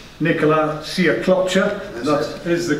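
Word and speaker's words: Nikola Sjekloća: Anthony Yard against, let me get the name right, Nicola Siaklopcha. That is the correct pronunciation if anybody's wondering.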